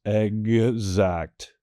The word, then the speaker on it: exact: This generally comes at the beginning of words when X is paired with an E. For instance, exact, gz, that GZ sound.